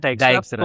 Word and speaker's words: Dijkstra: Bacanya Dijkstra.